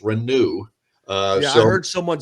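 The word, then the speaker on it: Reneau: got to keep his it's renew not Renault yeah and I said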